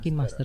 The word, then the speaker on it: KineMaster: KineMaster apa KineMaster sih? KineMaster dibacanya KineMaster.